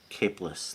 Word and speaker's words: Caplis: Is that how I say your last name? Capeless. Caplis, like it's just like it's spelled, and a great tribute to the great Rudy Van Gelder, the legendary.